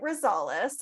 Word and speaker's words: Rosales: your last name I don't wanna okay Renee Rosales and I've got to just touch up the